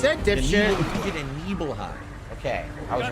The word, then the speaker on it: Nibelheim: Nibelheim. Nibelheim. So it's not Nibble, it's Nibel. That's where That's what he said, The dipshit. Nibel, you did a Nibelheim.